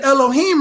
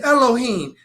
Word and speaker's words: Elohim: The A in Elohim right here is silent.